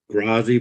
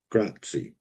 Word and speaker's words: grazie: Grazi, but it's not a grazie. It's how you say it. Gratzi.